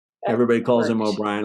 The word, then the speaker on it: O'Brien: because I call him oh Ryan everybody calls him O'Brien I call him oh Brian so I kept looking